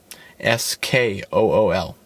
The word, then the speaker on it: Skool: Skool is how you spell it, right?